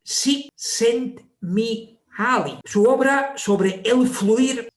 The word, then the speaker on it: Csikszentmihalyi: no sabemos cómo pronunciarlo, porque cuando hay tres consonantes juntas, se pronuncia así, Csikszentmihalyi.